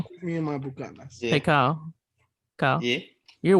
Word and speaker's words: Buchanan's: That's actually pronounced Buchanan's. Don't hey, Kyle. fuck with me and my Bucanas.